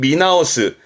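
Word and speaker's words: 見直す: 그럼 보는 거는 미루니까 발음은 미나오스.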